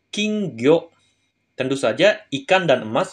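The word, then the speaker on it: 金魚: emas kayak gini King ya emas minasang dia dibacanya kingo tentu saja ikan dan emas sama dengan ikan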